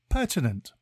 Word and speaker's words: pertinent: Today's word is pertinent. It is pronounced per-tin-ent and spelt P-E-R-T-I-N-E-N-T. Think per-tin and then ent.